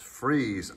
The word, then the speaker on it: Frise: mention is known as the fry's f-r-i-s-e sometimes pronounced freeze aileron now how this